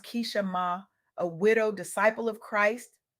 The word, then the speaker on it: Keeshemah: I recently had the profound honor of sitting down with Keeshemah Johnson, pronounced Keeshemah, a widow disciple of Christ, mother, grandmother, fiance,